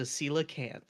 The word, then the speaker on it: coelacanth: The way it's spelled will set you off. It's understandable. Coelacanth. Yes. CeeLo. It's like CeeLo Green, but CeeLo can.